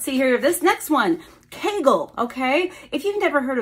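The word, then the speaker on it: Kegel: way it's spelled this way even though we pronounce it Kagel they say keigle they call it keegle exercises which makes sense there's an e in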